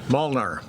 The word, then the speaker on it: Molnar: Molnar.